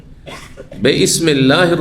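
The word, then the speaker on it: بسم الله: ছিল আসলে কি ছিল বিসমিল্লাহির রাহমানির রাহিম আল্লাহ নামে শুরু করছি তো মাঝখানে পড়ার কারণে হামজাটি সেখানে মিলিত হয়ে গেছে ওয়াসল যেটিকে বলা হয় উচ্চারণ হয়নি আর আরো অতিরিক্ত লিখাতে হালকা করার জন্য লিখনী থেকেও সরিয়ে দেওয়া হয়েছে।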